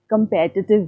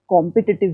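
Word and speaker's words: competitive: अब आप सोचते होंगे कि भाई मैं कॉम्पिटिटिव एग्ज़ाम्स क्यों नहीं बोल रही हूँ, क्योंकि इसका प्रोनाउंसिएशन कंपेटिटिव है, कॉम्पिटिटिव नहीं है।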